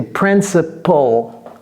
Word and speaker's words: principle: Quand bien même le L vient avant le E, ne dites pas principle. C'est principle.